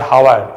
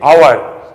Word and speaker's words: hour: you are saying not hour, you are saying our.